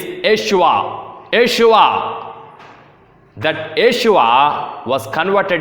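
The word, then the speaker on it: ישוע: In the Hebrew version or the Aramaic version, the pronunciation of the name is Yeshua.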